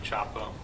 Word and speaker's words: Csapo: officer Chapo if you would please uh introduce yourself to the jury and spell your last name for the record please officer Chapo last name is spelled CS AO and officer Chapo how long